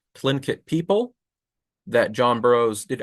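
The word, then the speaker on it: Tlingit: Expedition did actually meet the Clint the sorry say it right clink kit people that John Bros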